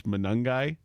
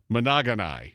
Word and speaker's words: Monangai: The other awesome malaprop we got to start, the very first time Tom Brady tried to pronounce Monangai, Yep. he gave us Monogonai.